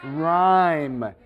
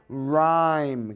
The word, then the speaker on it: rhyme: Can you say rhyme? It sounds like this, R-H-I-M-E. That's the phonetic sound. That's what it sounds like. It sounds like rhyme. Can you say that? Rhyme. It's spelled with a Y, R-H-Y-M-E.